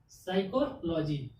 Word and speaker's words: psycho: इसमें भी एस से पहले पी आ गया, जब एस से पहले पी आ गया तो पी साइलेंट हो गया, तो बचा क्या, SYCHO, साइको।